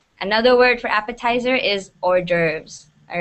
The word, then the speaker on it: hors d'oeuvres: d'oeuvres gerbs perfect yeah a lot of people don't know how to pronounce it they go like the orb or whatever it's not pronounced like that it's pronounced hors d'oeuvres here i'll write it phonetically okay okay hors d'oeuvres that's how you say it but that's how